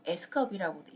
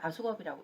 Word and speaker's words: AskUp: 자, 그러면 카카오톡에서는 이걸 사용을 하는데 이 이름을 뭐라고 하냐면 아수겁이라고 읽기도 하고 S컵이라고도 읽기도 하고 그래요. 근데 여기 카톡에서는 정식 명칭으로 아수겁이라고 읽습니다.